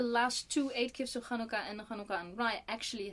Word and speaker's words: Hanukkah: more linguistic skills because the way she said Hanukkah well I had an actually two ah sounds in it and an ooh as in it was three syllables which in American things do not have as many syllables as it's like it's Hanukkah no it's Hanukkah so there you go so yeah uh